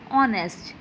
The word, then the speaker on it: honest: So we pronounce are honest. So the first beginning sound of O, R. O is vowel. So we write N here because H is silent there.